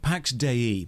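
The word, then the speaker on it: Pax Dei: 65 Pax De that's how it's pronounced the developers said so is a sandbox MMO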